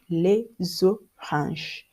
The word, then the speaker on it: les oranges: You pronounce S and X like Z. For instance, we have les oranges.